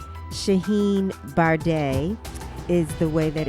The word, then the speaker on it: Bharde: lot at the start of our podcast I mispronounced Sheheen's last name it's bar de Shaheen bar de is the way that it's pronounced Shaheen is